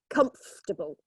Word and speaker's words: comfortable: word arranged there yes it should be three because the Ori is not pronounced it's comfortable okay so we miss out very very common to miss out syllables in long words so it's only three syllables okay what about this